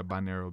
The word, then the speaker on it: binaural: Binaural beats is okay. How we pronounce it. Yeah, binaural beats.